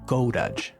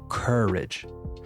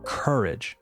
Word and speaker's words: courage: And the common mistake is saying goaj instead of courage. You have to fight the temptation to close your mouth and pronounce the o and the u separately. We don't say goaj, we say courage.